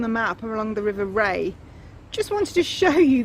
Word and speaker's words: Rea: That's it, spelt like sea, pronounced like the sun. The River Ray along the side of Northfield.